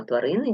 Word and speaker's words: тварини: і так що ми маємо три склади тварини наголос на другий склад рахуємо букви 7 букв